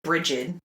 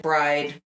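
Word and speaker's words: Brigid: the the return of Bridgette bread bride Bridget however you want to pronounce it we had a whole discussion on this pick your pronunciation we're going with Bridget so you're celebrating her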